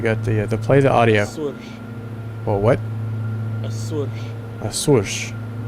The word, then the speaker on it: Açores: Açores. Well, what? Açores. Açores. Açores is apparently the correct pronunciation. It's not Azores.